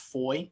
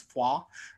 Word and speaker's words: Foix: Band of Brothers series, it's mispronounced Foy, it's Foix.